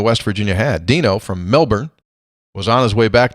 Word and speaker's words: Melbourne: Melbourne, pronounced Melbourne, airport, Christmas Day.